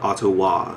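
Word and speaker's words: Autowah: band called sum and a ottawa-based man called ottowa that's a-u-t-o-w-a-h and soom is spelled s-e-u-m in case you want to look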